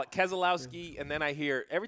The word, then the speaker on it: Keselowski: this Arrow how do you say his name Keselowski I have my coffee going I had a little coffee going in the middle of keslowski I got call it Keselowski and then I hear every time Dale Jr